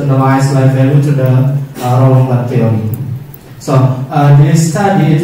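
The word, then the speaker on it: Roland Barthes: Okay, into the theoretical framework, we use the BART or Rolombac in pronunciation of the French because Rolombac is from France, so we say it in French correctly, Rolombac.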